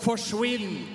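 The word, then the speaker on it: forsvinn: standing up in Norway we have a word that's called forwin and it rhymes with quinnn so it basically means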